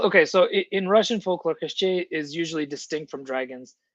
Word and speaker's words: Koschei: Okay, because usually in Slavic folklore, koshchai, okay, that's the way we would pronounce, is a dragon. It's like the main baddest dragon that you have to defeat. Well, okay, so in Russian folklore, Koschei is usually distinct from dragons.